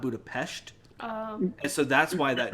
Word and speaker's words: Budapest: remember budapest very differently because pronounced budapest not budapest um so that's why